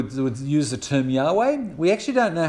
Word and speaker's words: Yahweh: Now, there are some people who would use the term Yahweh. We actually don't know how to pronounce Yahweh.